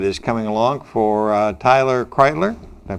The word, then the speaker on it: Kreilter: Coming up is Thanksgiving, and on Thanksgiving there's a very unique 5K run that is coming along for Tyler Kreilter. Did I pronounce it right? Kreilter.